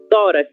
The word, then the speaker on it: tórax: Tórax, Helly. A qual grupo tórax pertence? Isso, paroxítona. Nós temos como sílaba tônica a penúltima sílaba, que é a sílaba tó, ok?